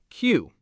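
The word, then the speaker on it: queue: The word is spelled Q U E U E. Five letters. And you know how many of them you actually pronounce? One. Just the Q. That's it. Q. That's the whole word. Q. All those other letters, U. They do nothing. They serve zero purpose.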